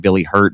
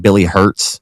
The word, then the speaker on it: Billy Hurt: I'm pretty sure that I said Billy Hurts, and so I mispronounced that gentleman's name. So I want to apologize for that. I'm really, really big about not butcher. I know it's just one letter, but for me to